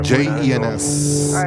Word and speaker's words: Jens: And my name is Jens, J E N S, it's pronounced Jens.